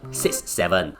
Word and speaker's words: 6-7: Now, note that it's always pronounced 6-7 and not 67.